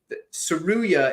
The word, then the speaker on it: Tsuruya: But Tsuruya is basically it's similar to tsunami. So anybody that's like thinking like trying to like remember how to say it right, just think tsunami.